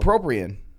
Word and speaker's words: bupropion: No, it is pronounced Bopuprion. There's also, that's another way to say it. What? Oh. Bopropion.